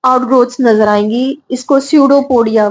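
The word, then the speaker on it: pseudopodia: growth नजर आएंगी इसको सूडो पोडिया बोलते हैं सूडो पोडिया प साइलेंट यर और सूडो पोडिया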